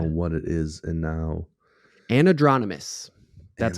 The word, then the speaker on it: anadromous: And now, Anadromous.